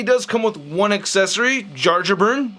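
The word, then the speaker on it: Jarnbjorn: So I did look up some videos of Norwegians pronouncing Bjorn, so I think it's Yarnbjorn. Yarnbjorn. Yeah, there it is. Yarnbjorn, right?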